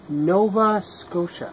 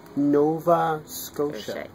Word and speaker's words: Nova Scotia: Nova Scotia. And slowly? Nova Scotia.